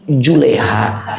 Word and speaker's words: Zulaikha: Nama wanita itu adalah Zulaikha. Ya udah sampai Lebak Parah. Bukan Zulaikha lagi pelafalannya tapi Juleaiha biasanya begitu ya.